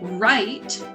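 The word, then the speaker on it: write: Now, when we say right, we don't say right, we just say right. So that W is silent.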